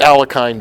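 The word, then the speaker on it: Alekhine: and it's since then become known as the alkyne defense which is the Russian pronunciation immediately attacks the unguarded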